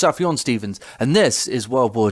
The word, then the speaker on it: Sufjan Stevens: hello Themba galius apparently it's pronounced Sufjan Stevens and this is World War two by the